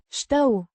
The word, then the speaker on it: Știu: Știu. Means I know. It's the first person singular present indicative of A ști. to know. Pronounced Ștău. the I. sound is like the ee in see.